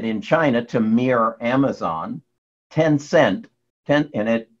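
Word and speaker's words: Tencent: China to mirror Amazon ten cent ten in it it is pronounced and spelled te NC ENT and ten cent is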